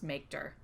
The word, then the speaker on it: mkdir: To create a new directory, use the “mkdir” command, which I usually pronounce “makedir”.